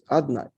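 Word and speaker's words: Adonai: It's written Yud-Kei Vav-Kei, we pronounce it Adnai.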